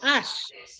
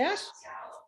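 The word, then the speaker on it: Ashe: que estuvo presa con Callejas, por ejemplo, el presidente de la Asamblea General de Naciones Unidas, el presidente Ash, A-S-H-S-E-S, no, A-S-H-S, Ash, bueno, el presidente Ash, que fue el primer presidente de la Asamblea General de ser africano.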